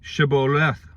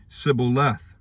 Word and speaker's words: shibboleth: they say to him then say shiboleth and he would say sybil leth for he did not pronounce it right then they would take